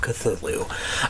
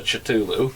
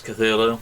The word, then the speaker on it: Cthulhu: literally no no no if you had never seen this word before how would you have pronounced cthulhu i i can answer that by a co-worker okay because i showed him the book and he said what's a chatulu okay right ryan how would